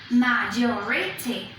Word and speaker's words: majority: Majority. Where is the stress? It is on the second syllable again. Majority.